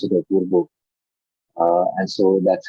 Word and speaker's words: Apurva: I think they pronounce it Apurva.